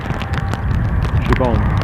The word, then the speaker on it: Siobhan: Siobhan. Sorry, I mispronounced your name. I'm notorious for getting name pronunciation wrong. It's never intended to be that way. Siobhan.